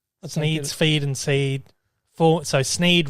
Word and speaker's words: Sneed: So Sneed rhymes with feed and seed.